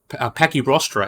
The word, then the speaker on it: Pachyrostra: And within Centrosauria, these guys are in the clade Pachysauria, which means Pachystora, I believe you pronounce Pachyrostra, actually, that's how you pronounce it, or thick snouts.